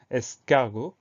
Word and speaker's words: escargot: Et attention, à la fin, on a une lettre muette, on a le T. Donc on pense à mettre ce T.